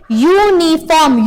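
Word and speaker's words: uniform: क्यों, क्योंकि यूनिफॉर्म, उसको जब आप बोलोगे, प्रोनाउंसिएट करोगे तो उसकी आवाज क्या आएगी, य की आवाज आएगी, यू, यूनिफॉर्म, यू यानी कि यक,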